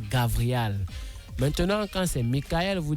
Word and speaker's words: Gabriel: soit à effet immédiat, on ne dit pas Gabriel, on dit El Gabri ou on dit alors Gavriel.